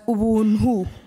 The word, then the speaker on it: Ubuntu: It's actually pronounced as Ubuntu.